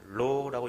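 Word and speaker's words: לא: 로라고 이야기합니다. 영어의 노하고 같은 말인데 낙타 모양의 글자에다 전부 다 콕 찍어놓은 겁니다. 로하고 발음입니다. 리을자 발음입니다.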